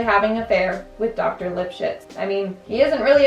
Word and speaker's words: Lipschitz: Lipschitz. That's his name, that's how you pronounce it.